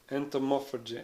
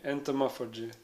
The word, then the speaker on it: entomophagy: Would you ever take part in how do you pronounce that word? Entomophagy. Entomophagy.